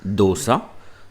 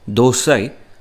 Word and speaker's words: dosa: is a pronunciation lesson dosa although written like this is pronounced in different ways across india you can call it dosa dosai and the variations go on a dosa is made